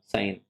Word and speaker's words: Cayenne: Capital ये है तुम्हारा साइन, CAYENNE, साइन।